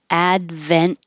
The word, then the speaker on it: Advent: doesn't breathe Advent series Advent same thing as doesn't breathe your tongue goes up for the T Advent and not release it series and we practiced